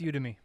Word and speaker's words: Udemy: I think it's Udemy. Udemy. Yeah, Udemy. I always think of Ubuntu, and my pronunciation goes out the window.